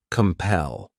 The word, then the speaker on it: compel: next verb is compel this word has two syllables and the stress is on that second syllable compel what it means is